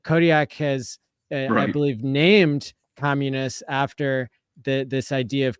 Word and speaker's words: Communis: has I believe named Communists after the this idea of community tell us more yeah and if we could just um correct the uh pronunciation it is communist Community communist Community communist commun all